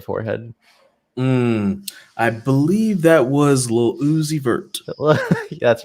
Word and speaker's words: Lil Uzi Vert: I believe that was Lil Uzi Vert. That's right. Yeah, you're gonna do that. If you say his name fast, it sounds like Lucifer, and that was done on purpose, my friend.